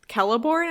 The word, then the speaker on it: Celeborn: guest will be like, it's actually Celeborn, and I'll be like, oh, that sounds so much better when you say it like that.